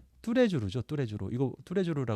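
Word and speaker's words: Tous les Jours: 또 다른 브랜드가 예 뚜레주루 뚜레주루 이거 뚜레주루 발음하죠 요것도 프랑스입니다요 뚜레주 그루가 어떻게 되면 뚜가 올이라는 뜻이고요 레스가 이제 레스를 바 말 지 않고 레로 발하는데요 레미 제압을 하듯이 그거와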